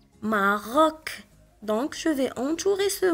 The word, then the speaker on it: Maroc: Le mot suivant, on a C à la fin du mot, donc on va la prononcer K, Maroc.